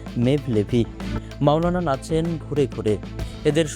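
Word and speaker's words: Mevlevi: তুর্কি ভাষায় এই শব্দটির উচ্চারণ মেভলেভি।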